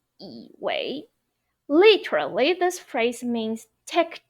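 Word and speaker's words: 以为: So instead of saying 我以为, we would say 我以为, second tone, third tone. 我以为, okay? Now let's move on. 以为 yi wei.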